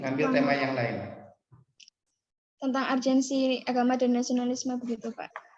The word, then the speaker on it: urgensi: Tentang urgensi agama dan nasionalisme begitu, Pak. Apa? Tentang urgensi agama dan nasionalisme. Agensi?